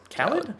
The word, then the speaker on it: Khalid: American Teen by Khalid or Khaled? Khaled. Okay. That's what I've heard it pronounced as.